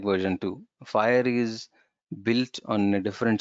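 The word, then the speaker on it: FHIR: Then There came our fire uh we FH which we pronounce it as fire so many people ask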